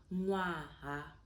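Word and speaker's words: ṅwaha: Having the dots at the top of the N, it gives you that softer sound of the N, right?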